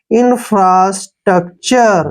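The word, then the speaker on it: infrastructure: हम क लिखेंगे और टी यू आर ई का उच्चारण हम क्या लिखेंगे चर ऐसे ठीक है ना चर लिखेंगे चर अब देखिए इंफ्रास्ट्रक्चर ऐसे इंफ्रास्ट्रक्चर आप इसको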